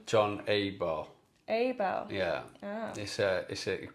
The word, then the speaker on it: Abell: And in your home, John Abell. Is that how you pronounce your last name? John Abell. Abell? Yeah. Ah. Unfortunately got an English pronunciation. Right, the two L's.